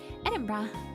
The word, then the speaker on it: Edinburgh: that i didn't know why i said that edinburgh okay so the pathophysiology the underlying neurophysiology okay